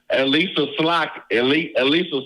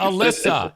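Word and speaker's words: Elissa: Elisa Slotkin. God for damn Senate. it. No, Thanks. it's Alyssa. It's Alyssa Slotkin. Alyssa?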